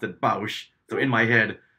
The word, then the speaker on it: Boushh: any kind of audio book, it has been pronounced as Boosh. Okay. But growing up, before I heard all this, I always pronounced it Bausch.